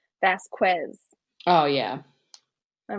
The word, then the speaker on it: Vasquez: lawyer, Elaine, constantly says Vasquez. Oh, yeah. I'm like, can you please pronounce it correctly? I Can just you please say Vasquez instead of Vasquez?